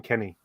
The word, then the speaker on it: Kenx: except I pronounce him Kenny oh okay so the x is silent in that version um so I'm I'm